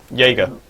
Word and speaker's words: Yaeger: Is that how I pronounce it? Jaeger.